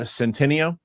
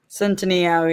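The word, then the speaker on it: Centineo: So, uh, Roxy, tell me if I pronounced this kid's name right. Noah Centennio. Centino.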